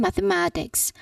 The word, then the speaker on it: mathematics: Again, mathematics. I like studying mathematics. I like studying mathematics. Remember to pronounce all the syllables clearly.